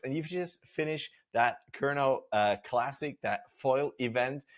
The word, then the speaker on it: Kernow: The is it Kerno classic or how do you pronounce it correctly? Yeah, Kerno. Kerno.